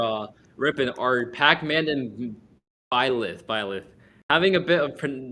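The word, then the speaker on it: Byleth: Ripon are Pac-Man and violith violet having a bit of trouble pronouncing that as um I have a habit of pronouncing it like bailiff Bayless Violet tomato tomato whatever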